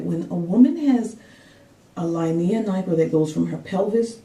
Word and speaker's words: linea nigra: Now, the next thing I wanted to talk to you guys about is the Linea nigra. I've also heard it pronounced as Linea nigra, but that is the line that develops on your tummy during pregnancy, and it's due to hormonal changes.